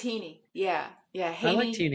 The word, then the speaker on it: Heaney: So, it's not Haney, it's Heaney? It's Heaney.